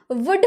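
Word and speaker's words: would: हुआ है कभी नहीं ना वुड हम बोलते हैं क्यों क्योंकि एल तो साइलेंट है इसीलिए वुड यह विल का पास्ट फॉर्म होता है।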